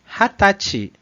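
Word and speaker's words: 二十歳: O número 20 vai ser pronunciado como 20 歳、 Hatachi. Hatachi.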